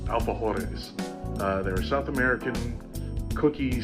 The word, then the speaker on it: alfajores: So, I found a recipe for uh I believe it's pronounced alphahores.